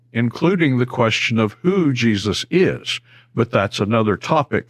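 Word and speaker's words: Jesús: In Spanish, the name is pronounced Jesus. A different syllable is accented and the J is pronounced like an H, just like every other word in Spanish that begins with J.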